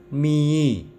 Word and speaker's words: mihi: diikuti n menjadi ng membacanya huruf ha ha dalam bahasa Latin tidak diucapkan misalnya homo itu diucapkan Ungu mihi diucapkan Mei jadi ha itu luluh hilang Wow kita menjumpai huruf